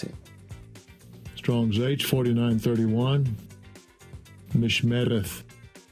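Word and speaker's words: מִשְׁמֶרֶת: How do they pronounce it? Strong's H4931. Mishmereth. Mishmereth.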